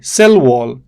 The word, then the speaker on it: cell wall: Look, cell wall, stress falls on the second word. Cell wall.